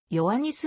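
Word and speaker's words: ヨアニス: 大統領を務めたなお中世現代ギリシャ模型ではよワニスのほうが正確な発音に近いカポディストリ明日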